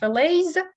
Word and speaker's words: fillet: So fish fillets, a French word, французское слово, поэтому такое у него интересное произношение. Т у нас немая в данном случае.